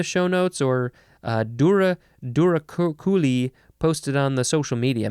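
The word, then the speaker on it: douroucouli: okay the next word this is duraculi durakuli I think that is how you pronounce it it is spelled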